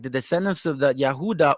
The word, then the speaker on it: Yehuda: the descendants of the Yehuda or Judah or euda which is the true pronunciation of Judah they all fell in